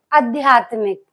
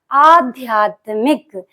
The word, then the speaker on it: आध्यात्मिक: ही लिखा जाएगा तो यहां पर आ पे मात्रा लगी हुई देखिए आध्यात्मिक और जबक कुछ लोग क्या कर देते हैं अध्यात्मिक बोलते हैं ना ये चीज अध्यात्मिक है जी बोलते लिखन उसे गलत उच्चारण करेंगे तो गलत ही लिख जाएगा सही शब्द क्या होता आध्यात्मिक यानी कि आ पे मात्रा लगी होती है याद रखना ये